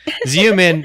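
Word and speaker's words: Xeomin: looking these products up zoom in for some reason is spelled x-e-o-m-i-n so sorry exactly exactly Seaman with an X yes and um so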